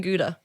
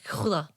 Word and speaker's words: gouda: I'm going to mispronounce it cuz everyone's like, "Oh, it's" But it's a cumin guda. A gouda.